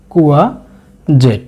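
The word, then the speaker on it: courgette: দুন্দুলের অনেকগুলি ইংরেজি প্রতিশব্দ থেকে আমি দুটোকে বাছাই করেছি, তার ভিতরে একটি হলো কুয়া জেট, কুয়া জেট, খেয়াল রাখবেন উচ্চারণটি কুয়া জেট।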